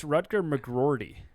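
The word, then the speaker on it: McGroarty: the way rutger oh you've been saying it wrong it's rutger mcgrawdy there's two r's sorry wrecker mcgraw i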